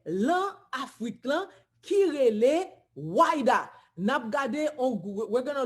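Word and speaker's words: Ouidah: In French it's Wida, en français c'est Wida, in Portuguese it's Ayuda, en portugais c'est Ayuda, okay?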